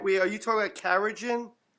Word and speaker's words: carrageenan: Um so, can we Are you talking about carrageenan? Carrageenan. That's how you pronounce it.